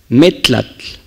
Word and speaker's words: metlatl: La fuerza del acento está en estas palabras, en estas letras. Metlatl, metlatl, y no es metlatl.